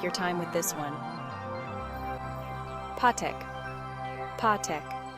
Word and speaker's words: pátek: Pátek, pátek. Pa rhymes with pa and tek is similar to tek. It's a straightforward pronunciation.